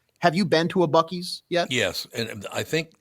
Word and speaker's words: Buc-ee's: No, it's actually, is it Buc-ee's or Busey's? It's Buc-ee's, yeah.